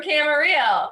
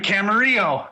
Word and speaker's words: Camarillo: From Camarillo. You really like him. Please put your hands together for. Hey everybody, I'm and I live in Camarillo, California. It rhymes.